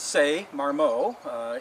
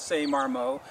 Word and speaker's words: Ce Marmot: His real name is Ce Marmot. He's French. It's spelled C-E and then M-A-R-M-O-T. And so his real name is Ce Marmot.